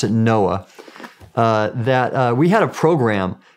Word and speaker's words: NOAA: And so for example, when I was with the National Oceanic and Atmospheric Administration, we pronounced it NOAA, we had a program called the Ocean Exploration